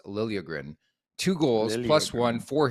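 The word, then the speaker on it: Liljegren: season by the way it sounds like that's the way he wants it pronounced Lilia grin two goals plus one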